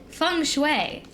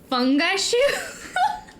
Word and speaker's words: feng shui: I've always said feng shui. That's how it's pronounced. Okay, that's what I thought. Because I was talking to my friend, and I think she just called it fungi shoe. Okay, no, that's not how you pronounce it.